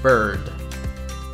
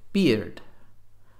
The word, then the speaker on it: bird: hard to pronounce well many people in Spanish tend to pronounce the I like the Spanish I II and so they say beard but beard in English is BA daba in Spanish so it's a different word completely so we need to